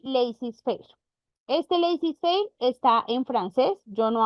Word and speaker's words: laissez-faire: Este laissez-faire está en francés, yo no hablo francés, yo busqué cómo se pronuncia y se pronuncia así. Si alguno habla francés y me quiere corregir, le acepto la corrección.